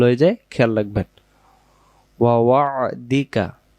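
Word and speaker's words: وعدك: ওয়া ওয়া'দিকা, এই যে আইন অক্ষরটা বাংলা দিয়ে লেখা সম্ভব হয়নি, আমি এখানে দিছি ওয়া ওয়া'দিকা। এই যে এটাকে, এই যে হাইপেন দিয়েছি, এটাকে আইনের মতো উচ্চারণ করবেন।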